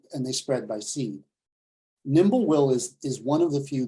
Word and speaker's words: Nimblewill: It's called Nimblewill. And that's spelled like it sounds, nimble, N-I-M-B-L-E, will, W-I-L-L.